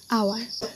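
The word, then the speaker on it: hour: এইচটা কিন্তু আমরা উচ্চারণের সময় এটার এইচটাকে আমরা বাদ দিয়ে দিই। এখানে তাকে হচ্ছে ও। ও এর উচ্চারণ কি? ও এর উচ্চারণ হচ্ছে একটা ভাওয়েল সাউন্ড, তাই এখানে এন বসেছে।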